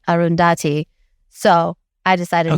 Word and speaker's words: Arundhati: Arundhati.